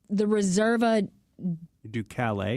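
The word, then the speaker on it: Riserva Ducale: And the Italians always pronounce the E on the end of their words. Okay. So we don't have a silent E on the end. So if you ever see that on the end of an Italian word, that's how you say it.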